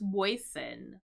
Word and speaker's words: moisten: There's no T here. So it's just moisten.